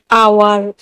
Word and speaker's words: hour: आवर, HOUR, आवर, और आवर ने भी ओ से पहले एज है तो हम एज का उच्चारण नहीं करेंगे।